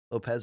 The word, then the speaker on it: Lopes: 2 in the main event, Brian Ortega, Diego Lopes, your new co-main event. Lopes Lopez with a Z? with an S, but it's pronounce it with a Z.